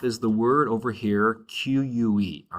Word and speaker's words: que: The first off is the word over here, QUE, all right? That word is que. It sounds like the letter K in Spanish.